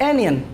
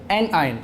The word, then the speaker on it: anion: कैशियन और एक एयन अक्सर बच्चे जब पहली पहली बार इसको पढ़ते हैं तो वो इसी तरीके से इसको प्रोनाउंस करते हैं इनकी दुरुस्त प्रोनंसिएशन ये है इसको पढ़ेंगे कैटा आइन और इसको एन आयन तो कैट आयन को